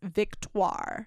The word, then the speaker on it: Victoire: And I looked up the pronunciation and it's Victoire.